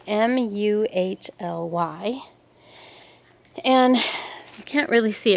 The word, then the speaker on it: muhly: It's a muley or mully. I'm not sure how you say it. It's Muhly.